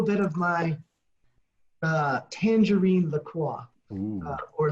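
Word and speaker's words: LaCroix: with a little bit of my uh Tangerine laqua or lacroy or laqua or whatever you want to call it to pronounce it we don't need to get into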